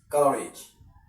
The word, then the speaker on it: courage: Courage is two syllables and not three syllables. Now, what do we stress? Courage. Courage. So, we stress sorry stress because this is rich already. The rich is a suffix. So, you don't stress it.